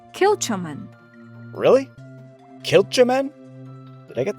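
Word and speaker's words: Kilchoman: Professor, this distillery is pronounced, “KILL-cha-men.”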